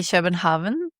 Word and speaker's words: København: Well, in Norwegian, you say København.